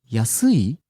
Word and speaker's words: 安い: 安い、安い、 Rising on the second syllable su, coming down on the last syllable i.